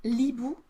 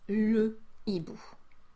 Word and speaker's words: le hibou: You cannot say l'hibou, you need to say le hibou.